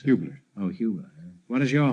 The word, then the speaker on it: Hubler: Or Hubler, how do you pronounce it? Hubler.